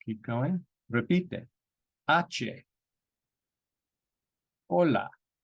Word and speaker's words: hola: going repeat that achie hola so H's are always silent in Spanish hola hombre e igualmente Pota